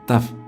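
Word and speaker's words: תו: & serpiente de bronce se pronuncia tap y antiguamente en el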